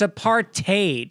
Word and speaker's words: apartheid: by the way destro it's apartheid if you really want to say it right that's what south africans say apartheid do they really say